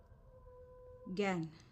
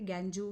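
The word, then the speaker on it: gangue: Now next definition is very important, student, that is गैन, GANGU, इसको गैन pronounce करते, गैंजू, गैंजे, गैंगे, ऐसा कुछ भी नहीं होता.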